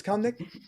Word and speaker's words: Kamnik: It is Kamnik? Yes, Kamnik, Make right.